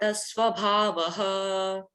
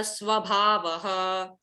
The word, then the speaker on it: स्वभावः: इधर देखिए, जब विसर्ग आता है उसके बाद पकार होता है, तो एक ऐसे करके साउंड करेंगे हम, जैसे उन विसर्ग का उच्चारण नहीं करेंगे हम।